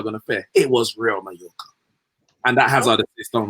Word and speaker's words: Real Mallorca: Real Mallorca. Say it right. Put some respect to the name. Real Mallorca.